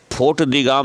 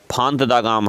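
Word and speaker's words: Font-de-Gaume: और फोर्ट दी गाम नहीं है, फांत दा गाम है।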